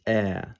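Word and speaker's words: Ә: the same symbol, or but its most common pronunciation is ah.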